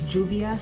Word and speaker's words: Juvia's Place: this blush um it's I think it's Juvia that's how you pronounce it Juvia's place this is